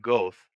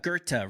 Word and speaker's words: Goethe: he's von It's Goethe, right? It's a go. I used to say it was Goeth. It's spelled T H Goethe or E. something. Yes, yeah, Yeah, Goethe.